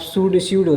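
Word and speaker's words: pseudo: स्यूडो पी से start होता है, जबकि पी साइलेंट हो जाता है, स्यूडो हो जाएगा।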